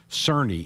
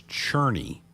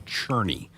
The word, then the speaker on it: Cerny: in that interview, and I referred to Daniel as Cerny. It's Cherney. So let me make the young man from Australia. So it's Daniel Cherney is how you say his last name.